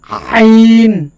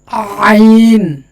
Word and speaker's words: আইন: হল আইন সাধারণভাবে যদি আইন বলি তাহলে আইন হবে না এটা হচ্ছে হলকের শেষ ভাগের হলকের মাঝখান থেকে উচ্চারিত হবে ঠিক আছে দুটা হরফ